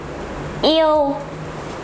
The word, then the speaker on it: yêu: word E, E, U, yêu, yêu, yêu. It pronounced like the word yêu, I love you or something. Yêu in Vietnamese, the word love. Yêu, but this is short E, not long E.